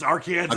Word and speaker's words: Arkansas: Okay, and you still pronounce it Arkansas as well, correct? Yeah, it's Arkansas, Okay.